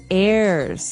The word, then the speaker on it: heirs: pod, and to his heirs. This is our next word. What is an heir? Now, if you notice, the h is silent there.